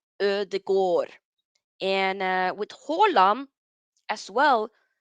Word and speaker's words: Ødegaard: So that letter there is called Ö, and it makes it sound Ö. So like with Ödegård, Ö, Ödegård.